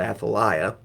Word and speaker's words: Athaliah: completely independently of her husband would have been Athaliah. You might pronounce that Athaliah.